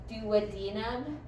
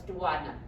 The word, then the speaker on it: duodenum: So when you have like that, you're like old doctors, when they would tell me stuff, like the duodenum, was an old surgeon, he's like, no, it's duodenum.